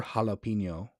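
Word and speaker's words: jalapeño: J is pronounced H or he in Spanish, like Jose. Yeah, or jalapeno. If you JA is ha, so but JA with it's JAP, right? Jalapeno.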